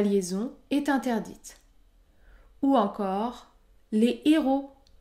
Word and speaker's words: héros: est interdite ou encore les héros les héros la liaison est interdite car le mot héros débute par un h aspiré la liaison est également